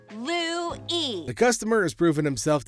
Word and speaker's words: Louis: It's pronounced Louis.